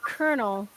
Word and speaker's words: colonel: on here tell Corner that the colonial is pronounced Colonel oh wait Colonel oh my God I can't